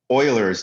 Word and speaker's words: Euler: not the natural number he is called uh euler's number or euler's constant right the e comes from the first part of euler's name pronounced euler not euler like a lot